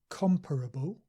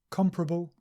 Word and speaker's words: comparable: more comparable pleasurable and sometimes people say these two words with four syllables comparable and pleasurable but the more standard and common form is just three syllables comparable pleasurable variable and this is